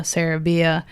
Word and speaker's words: Sarabia: thing, but people have always pronounced my last name wrong. Sarabia.